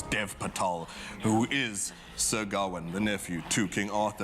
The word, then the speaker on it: Gawain: The name is, let's pronounce it, Gawain.